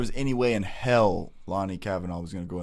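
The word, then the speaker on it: Lone'er: Because I keep calling it Lanier. That's how I just naturally want to call it. But everyone that I hear say his name says Lonnie. Yeah. So I just switched to Lonnie.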